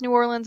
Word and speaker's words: New Orleans: you can tell because she pronounces new orleans in only two syllables i've heard if you're